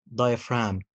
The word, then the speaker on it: diaphragm: نهاية الكلمة لا برضو حرف الجي بيكون silent letter زي diaphragm paradigm phlegm ولكن حرف